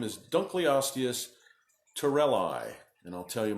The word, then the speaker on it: Dunkleosteus: seldom did you come across an animal called Dunkleosteus or Dunkleosteus I've heard of pronounce three or four different ways this is